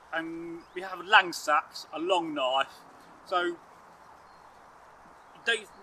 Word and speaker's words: seax: sax to um seaks and but we still pronounce it sax and some days I pronounce it seaks or saxs and some days I pronounce it